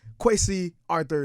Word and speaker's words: Kwesi Arthur: Um, Quy Arthur is here.